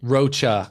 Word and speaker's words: Rocha: No, Rocha. I do this every freaking time. I get his name wrong. If he listens to this, he's gonna freaking be so mad at me. But it's Rocha.